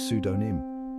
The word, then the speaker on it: pseudonym: It's not meant to be heard. Just like a whisper in a library, it stays silent. The correct pronunciation is pseudonym.